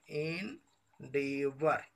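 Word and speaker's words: endeavour: इंडेवर, ये जो इसका जो वर्ड होता है इंडेवर पढ़ते हैं, इसका शुद्ध उच्चारण होगा आपका इंडीवर, इसका शुद्ध उच्चारण आपका क्या होगा, इंडीवर, इन डीवर, इसे क्या पढ़िएगा आप लोग, इन डीवर।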